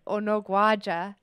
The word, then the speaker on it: Unogwaja: Unogwaja.